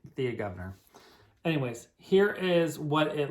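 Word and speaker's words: Thea Gouverneur: remember this is the thea governor or if you want to uh correct pronunciation i believe is taya gubner i'm english i say thea governor anyways here is what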